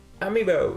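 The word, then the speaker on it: amiibo: Amibo, is that how you say it?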